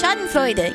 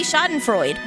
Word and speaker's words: Schadenfreude: You say the duh. It's not duh. Well, like, it's not a hard D. It's Schadenfreude. You pronounce the E.